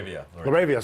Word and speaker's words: LaRavia: Guys I didn't know about, like Lavia. I'm sorry, I think I'm pronouncing his name wrong. Laravia. Sorry, Laravia.